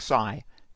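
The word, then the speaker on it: ξ: I'm going to use this Greek letter, which is pronounced xi, to represent pose.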